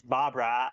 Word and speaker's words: Barbara: Barbara Barbrey. I mean, it's a lot of suits. Of course, that she's going to be sand. Okay. So, okay. So, her name is not Barbrey. Her name is Barbara.